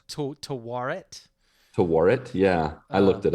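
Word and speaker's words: Taweret: And I still don't know how to pronounce this name. It's like Timurat? Tawaret.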